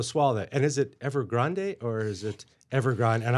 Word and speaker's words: Evergrande: And is it Evergrande or is it Evergrande, and I'm going with Grande, like Ariana Grande and the Rio Grande.